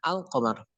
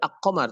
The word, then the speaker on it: القمر: Al-qamar, ketika kita menyebutkan al-qamar maka kita membacanya alif lamnya itu diidharkan al-qamar, tidak ak-qamar tapi al-qamar.